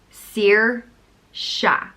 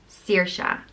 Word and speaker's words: Saoirse: where it comes from Saoirse and it's pronounced seer sha Saoirse it's kind of a